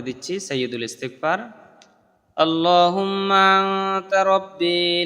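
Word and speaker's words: رب: তারপর হচ্ছে রাব্বি, রাব্বি পড়া যাবে না, রব্বি পড়তে হবে।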